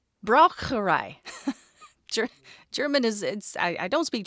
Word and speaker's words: Braucherei: It is also known by another term, which I didn't necessarily pronounce incorrectly last time, but I sure American the heck out of it. Okay. Braucherei. It should be correct. Braucherei.